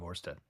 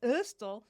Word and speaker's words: Ørsted: is, you say in Danish, you say the D with like your tongue and your lower teeth, like and if you like look like you're about to throw up, then you know that you're saying it right.